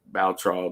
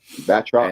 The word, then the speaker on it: Batroc: we now have noticed is in communication with Baltral the Leaper. I think that's how you say his name. Batroc.